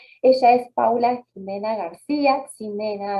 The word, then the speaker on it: Ximena: Ella es Paula Jimena García, Ximena, así se pronuncia bien.